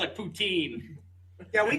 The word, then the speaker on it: poutine: West Coast Canadians that the different flavors of poutine the only true boots in you can get